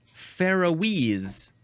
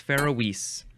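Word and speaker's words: Faeroese: fun yeah sound effect the next word is Fise or just Fise capital f a e r o e s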